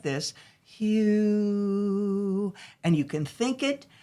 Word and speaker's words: HU: And we do share the Hugh song. That I think is important for your listeners to understand that it's spelled H-U, and it's for anybody of any religion, faith.